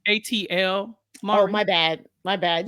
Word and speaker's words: ATL: don't miss oh miss next up is Atlanta which I I've never seen it's pronounced ATL oh my bad my